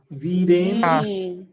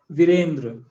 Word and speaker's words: वीरेंद्र: हाँ तो इसमें कैसे प्रोनाउंस करेंगे, पहले में दीर्घ है स्वर वीरेंद्र, और दूसरे में ह्रस्व है वीरेंद्र। वीरेंद्र दोनों में डिफरेंस है।